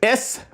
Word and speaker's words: siete: That's S-I-E-T-E. Siete. S-E-E-T-E. Siete.